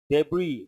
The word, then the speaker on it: debris: write next second so debris the letter s is silent these words you have